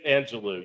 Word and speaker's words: Angelou: It's Angelou. Yes. Well, it doesn't matter. She doesn't care if you mispronounce her name, so she's fine.